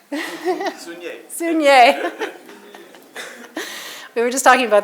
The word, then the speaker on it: Sugnet: Sugnet. Sugnet.